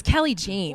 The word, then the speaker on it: Kelley Jeanne: She corrected me because I was like, I thought we were on a first syllable. I was like, Kel. Right? I was like, what's up, Kel? And she's like, it's Kelley Jeanne.